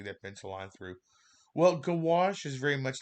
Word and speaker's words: gouache: making these small color studies of gouache and gouache is an opaque watercolor i'm going to pronounce it for you you don't need that gouache wash and so when we think about watercolors very